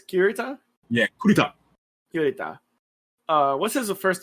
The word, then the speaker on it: Kurita: And like, I always mispronounce his name, so say me again. It's Kurita? Yeah, Kurita.